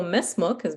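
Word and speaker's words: ما اسمكِ: He didn't pronounce the vowel on the kaf. He said mesmuk. Okay, so mesmuk is very commonly used when you're speaking to a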